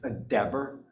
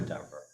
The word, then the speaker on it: Dever: Dever. Dever rhymes with never. Never Dever.